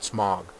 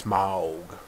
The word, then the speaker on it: Smaug: Ever since I heard it's pronounced a certain way in the trailer, Smaug. That's how I have to pronounce it. I used to pronounce it Smaug. Smaug. So I'm pretty sure that's actually how you're supposed to pronounce it. It's not Smaug. It's Smaug.